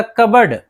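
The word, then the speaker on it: cupboard: इसी तरह कबड, कबड, कबड में भी जो है पी है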